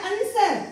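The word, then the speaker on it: answer: म्हणतो silent letter आता अंसर याला पण काय म्हणतो आपण अंश अर अंसर व चा उच्चार केलेला नाही व म्हणजे व कशात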